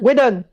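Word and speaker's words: Whedon: créée par David Kelly et non pas Jos Vedon qui par ailleurs a bossé sur un film d'abandonné de 2005. Docteur Hball docteur Harry Ball bah Wedon Wedon Wedon Elodie mais tu as mal prononcé aussi.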